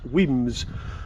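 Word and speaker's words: Wemyss: who's having a party weems pronounced weems where was first made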